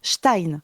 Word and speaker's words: stein: Et le e et le i à côté, ça se dit aï. Donc ça se prononce stein.